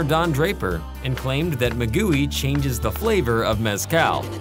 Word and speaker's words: maguey: But we insist it should be pronounced Maguey.